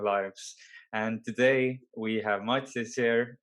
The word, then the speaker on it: Mathias: And today we have Mathias here. Did I actually pronounce it correctly? Yes, you did. Yeah, Yeah, it's Mathias.